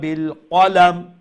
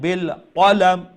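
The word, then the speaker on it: بالقلم: করা লাগে এই যে ওই যে আল্লামা বিল কলাম কলাম কালাম যদি কই ছোট কাফ উচ্চারণ যার আমরা কইমু বিল কলাম অর্থাৎ মোটা কাফ উচ্চারণ করেন মাশাল্লাহ অনেক সুন্দর তেলাওয়াত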